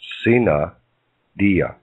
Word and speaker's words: sine die: Under the parliamentary law of Congress, when this happened, Congress became sine die, pronounced sine dia.